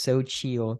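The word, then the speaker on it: Xochitl: what was going on but that is this so chill tortilla chips that's how you pronounce it um literally these chips are amazing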